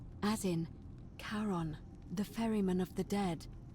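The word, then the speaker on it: Charon: it's just as you described it only your pronunciation is a little off the name you heard wasn't Karen it was c h a r o n as in Kon the Fairman of the Dead Kon or exchange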